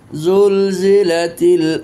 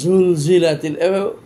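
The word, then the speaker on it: زُلْزِلَتِ: এই জন্য হারফু জাই কখনো ঝড় উচ্চারণ হবে না, ঝ বললে হারফু জাই বিকৃত হবে। এই জন্য ইজা জুল জিলাতিল, জুল জিলাতিল।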